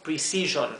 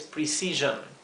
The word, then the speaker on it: precision: O sea, no es precision, es precision. Ahora, si representa dificultad pronunciar esto en velocidad normal, vamos a separarlo en cada sílaba o en cada sonido. Pre, precision, precision, ¿sí? Fíjense que la E suena más como una I que la I, porque